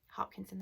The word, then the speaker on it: Hopkinson: from the disaster by Deborah hops Hopkinson Hopkinson that's how you pronounce that and then we have